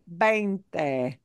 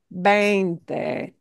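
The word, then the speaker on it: veinte: So you want to make sure it's your pronunciation is really, really precise for that word, bainte, bainte. See? Vente. Don't invert, you know, Vente.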